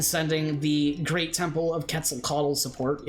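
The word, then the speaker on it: Quetzalcoatl: the Great temple of quetzal coddle support it's amazing that I know how to pronounce this it's actually how you pronounce it uh and this will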